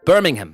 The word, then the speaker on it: Birmingham: in the UK Birmingham Birmingham that's how it's pronounced Birmingham I don't want to say Birmingham it's Birmingham in Birmingham UK I'm going to meacon